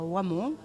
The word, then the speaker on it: Hoemon: peut venir visiter à wamon qui se dit wamon mais qui s'écrit hoemon sur la commune de